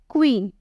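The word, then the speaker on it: queen: की तरह साउंड निकल कर आता है जैसे क्वीन क के साथ अ आ रहा है प्रोनंसिएशन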